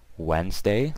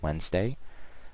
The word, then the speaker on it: Wednesday: tu es and day Wednesday like I said the D is silent don't forget that WD n es and day so Wednesday Thursday th urs and